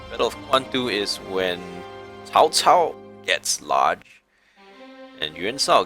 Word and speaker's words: Cao Cao: Cao Cao. Cao Mengde. Cao Cao. That's how you say his name. It's not Cao Cao. That's the bad American way of saying it. It's Cao Cao. That's Chinese for you.